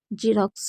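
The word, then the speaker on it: Xerox: तो उसे ज पढ़ेंगे अगर शुरू में एक्स है तो उसको क्या पढ़ेंगे ज पढ़ेंगे जैसे रोक्स जेरोक्स तो रोक्स में क्या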